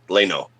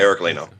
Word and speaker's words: Laino: It's uh Leno. Leno. Eric Leno.